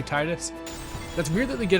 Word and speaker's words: Tidus: James Arnold Taylor did a video about it, talking about how they like instructed him that it was Tidus. It's related to a word that's pronounced Tida.